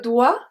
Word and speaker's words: dois: So the first 5 were je dois, tu dois, il doit, elle doit, on doit. They have the exact same pronunciation as doigt, finger.